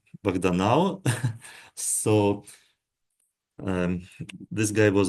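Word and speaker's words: Bahdanau: proposed in 2014 in the work of um banov but uh in um English transcription is pronounced ban now so um this guy was a student of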